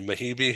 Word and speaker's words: Mehibe: uh first of all tell me if I'm pronouncing your name correctly mahii yes that's right that's perfect Ed yeah